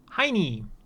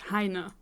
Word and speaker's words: Heine: Then the third kinda German-ish character, Heini. I would not read it like that or say it like that. It's Heine.